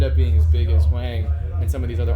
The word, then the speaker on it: Hoang: And again and and again it takes someone like Wang, that's how you pronounce his name. Thank God. That's how that say someone like Wang to like know bring